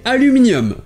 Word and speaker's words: aluminium: ça change la prononciation en anglais britannique c'est la première syllabe qui est accentuée et s'adonne à l'omnium mais en anglais américains c'est la deuxième syllabe qui accentué et toutes les autres